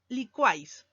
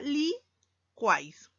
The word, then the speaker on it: licuáis: Vamos a la palabra licuáis. U, vocal cerrada. A, vocal abierta. Y, vocal cerrada. Cumple la regla, por lo tanto, se unen para formar una sílaba y sería licuáis. La palabra buey.